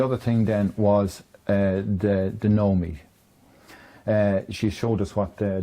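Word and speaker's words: Knowme: And now, Sam mentioned there a Nomi, folks, and Nomi is spelled K-N-O-W with a capital M-E, so it's a Nomi.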